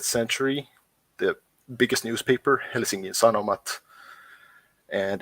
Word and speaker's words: Sanoma: But yeah, so the Finnish press landscape, the 2 biggest media houses are Sanoma and Alma Media, or if I were to pronounce in an American accent, Sanoma and Alma Media.